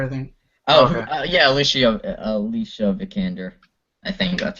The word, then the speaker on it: Vikander: yeah, Alicia Vikander. I think that's how you pronounce Yes, it.